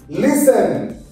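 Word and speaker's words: listen: পরিশ্রম করা এল আই এস টি ই এন লিসেন কি হয় লিসেন এল আই এস টি এন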